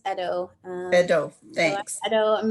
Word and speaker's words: Ido: And over to Ido from Ryerson. Hi there, it's pronounced Edo.